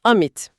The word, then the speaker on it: amid: It's pronounced as amid. It means in the middle. It sounds like, "Your friend Ümit."